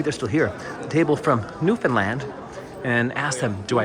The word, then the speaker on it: Newfoundland: I would say Newfoundland. It's Newfoundland. Like Disneyland.